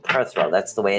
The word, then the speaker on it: Perthro: is is perro the run is actually called perthro that's the way it's actually pronounced um it's not how it's spelled but